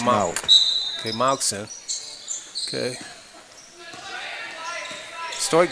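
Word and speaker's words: Mauck: M-A-U-C-K, but they told me it's pronounced Malk.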